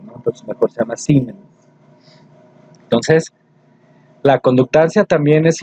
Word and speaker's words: siemens: Se escribe Siemens, pero se pronuncia Siemens, ¿sí?